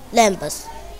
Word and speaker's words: lamb: Lambs. A lamp. One letter is silent letter. Lamb. B is silent letter.